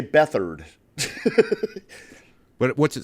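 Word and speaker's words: Beathard: the San Francisco quarterback they uh they pronounce it differently but his name is CJ beat hard no way but they say bethard but what's it spelled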